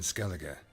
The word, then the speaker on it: Skellige: Pronounced ER, Skellige.